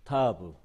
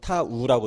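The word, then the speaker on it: תו: 자, 타브. 하나, 둘. 타브. 무슨 뜻이에요? 예, 표식. 뭐, 십자. 그런 뜻이 있다고 해요. 자, 타브. 예. 성서 히브리어에서는 타우라고 돼요. 타우라고 돼요. 예, 근데 우리는 그냥 타브로 하죠.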